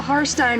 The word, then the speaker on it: Harstine: With me today is Melissa Harstine, rhymes with pine.